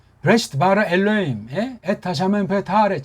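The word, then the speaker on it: בראשית: 브레시트 바라 엘로임, 에타 샤멘 베타레 이렇게 나가는데 이걸 어떻게 발음하겠냐고. 지금 여기 발음하라고 인간들끼리 정해놓은 거예요. 이걸 부라고 한다. 부라고 제대로 하는 사람 1%도 안 돼요. 뭐 으라고 해야죠.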